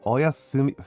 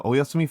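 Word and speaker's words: おやすみ: Um Sorry, I'm not willing I I I'm not willing to bend from my willing my my love of rolling R's to try to pronounce it Japanese style. Actually, Oyasumi frog.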